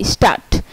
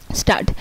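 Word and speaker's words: Stadt: তারপর যদি কোনো ওয়ার্ডে ডিটি একসাথে থাকে তাহলে এর উচ্চারণ হবে টয়ের মতো, যেমন এসটিএ ডিটি, স্টার্ট। এই যে ডিটি একসাথে আছে তাই এখানে ট হয়েছে, স্টার্ট।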